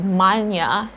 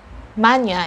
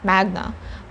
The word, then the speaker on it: magna: when it's latin or when you're using latin language you have to pronounce this word as manya and not magna but if you're speaking